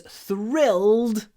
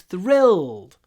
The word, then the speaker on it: thrilled: uh in this word try to hold the L thrill it's a dark L that we pronounce in the throat thrill I was thrilled thrilled don't don't stress the I thrilled it's a long L thrilled I was thrilled